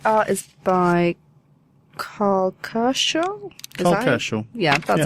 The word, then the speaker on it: Kerschl: Kerschl. Yeah, that's how you pronounce it.